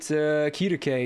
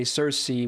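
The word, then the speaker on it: Circe: Starting with Kirke, Cersei, whichever pronunciation you want to use.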